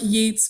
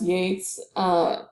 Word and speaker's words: Yeats: So William Butler Yeats, his last name looks like Yeats, but is pronounced Yates.